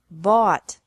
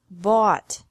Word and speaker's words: bought: Buy, bought, bought. Catch, caught, caught. Fight, fought, fought. Seek, sought, sought. Teach, taught, taught. Think, thought, thought. Remember that the G is silent in these verbs.